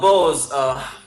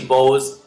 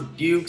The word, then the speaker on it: BEAUZ: And then we changed to BEAUZ officially about a year ago because people just had so much difficult time to pronounce our name. Yeah. Like some calls us Bukes, some calls us, whatever.